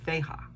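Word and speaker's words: Fehu: I started out pulling a rune, and I'm learning the rune, so I pulled it in advance, and the rune is Feha. It's spelled F-A-H-U, and it represents wealth.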